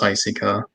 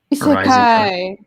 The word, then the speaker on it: isekai: because I didn't know how to pronounce Isika. Isekai. Isekai, whatever. I didn't say I took away your weeb card. I just said that's not the correct pronunciation.